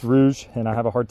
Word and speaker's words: Rouge: a Rouge Plant which I really want to say Rogue plant all the time I think Rogue is is a cooler name but it's pronounced Rouge and I have a